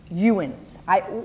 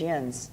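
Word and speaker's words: yinz: I arrived, I heard youns. What is that? You know what? Then you heard it wrong from someone who's just learning how to say it. Because what we say around here is yins.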